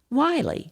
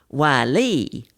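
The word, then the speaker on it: Wylie: Wiley, right? Nope. Residents pronounce it Wiley, with emphasis on Lee.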